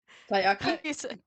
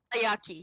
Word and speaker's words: taiyaki: chromatic dragon's beard and a really I cannot pronounce that. Tayaki? Taiyaki, yes.